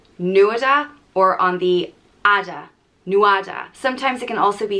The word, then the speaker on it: Nuada: brother of dagda and it is pronounced new ada but the emphasis can either be on the nu nueda or on the ada nuada sometimes it can also